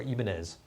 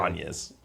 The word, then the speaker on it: Ibanez: Or Ibanez, if you pronounce it that way. Ibanez.